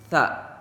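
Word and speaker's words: ث: tidak tidak mengeluarkan desisan jadi tidak seperti Huruf Sin ada ada huruf s-nya tapi ini tidak ada desisan tidak ada suara yang mendesis itu Cara pengucapan huruf tsa sa beda sama kayak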